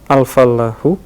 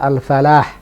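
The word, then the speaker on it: الفلاح: al-fallahu. Nah, Al-fallahu. al-fallahu juga begitu, ada tasdidnya. Jadi memang standar bacanya begitu. Tidak tepat kalau kita katakan al-falah. Karena al-falah dengan al-fallah punya makna yang berbeda.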